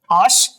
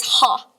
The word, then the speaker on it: H: Last, how do you pronounce H in German? Osh? The correct answer is ha.